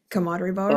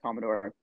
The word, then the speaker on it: Commodore: show at the coder is that is that how you pronounce it coder oh it was oh no sorry there's a the Commodore Commodore I couldn't I was like how do you prounce this word Commodore good Commodore okay come uh commod